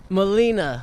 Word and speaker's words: Molina: Tony how do you say your last name Molina Molina yeah where did you grow up turning